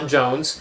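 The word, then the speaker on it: J'onn J'onzz: In the comic, it's spelled J apostrophe O N. J apostrophe o zed zed. Yeah. And it's like, oh, it's some weird alien name. Yeah. Um, but happens to be pronounced Jones.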